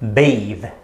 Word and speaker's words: bathe: in between okay so the first one sounds like bath and the second one sounds like bathe bathe okay and only